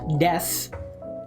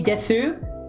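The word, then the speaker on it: です: For example, des pronounced des. I know it says desu, but this is one of the examples of aana being pronounced differently. There are some examples of it. This is one of them. For the most part, there are very very very few exceptions to pronunciation. If you say desu, it's not wrongish. You just sound very foreign and robotic.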